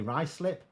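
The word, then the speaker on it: Ruislip: all the time it's it's spelled Rue slip but you say rice slip why is there a u in it then anyway whatever so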